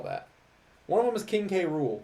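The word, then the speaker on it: King K. Rool: one of them is King K Rule King K rules spelled the exact same way in Japanese but they just call him King cruel which I'm like I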